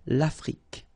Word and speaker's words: Afrique: Same thing here. Final it's only the k at the end that you will hear. L'Afrique.